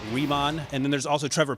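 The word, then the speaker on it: Raimann: of buzz is bernard raymond uh out of austria i gotta get pronunciation right riemann and then there's also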